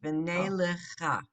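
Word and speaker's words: וְנֵלְכָה: This is not a blend either. It's v'nelecha.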